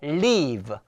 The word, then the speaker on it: leave: leave. 자, 부 발음 조심해야 되겠죠? 부라고 발음을 하는데 윗니빨로 아랫니스를 문 상태에서 부라고 했어요.